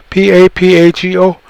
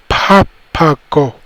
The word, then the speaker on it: Papago: So to get a Spanish guy with the Castilian tongue from real Spain over there, and you get him to say ba bauch, he's going to say papajo, papajo. And so they wrote it like that. Papago, papago. And that's where we got that word, papago.